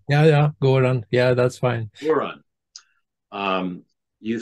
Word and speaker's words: Göran: I could call you Göran, now, did I pronounce that right? Yeah, Göran.